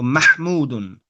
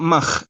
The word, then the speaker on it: محمود: There's no ka sound in the name. محمودا So it's after the meme, there's a ha. So Mahmudun. Mahmudun. محمودا. I'm hearing you say like mach. It's not mach. It's like a heavy H.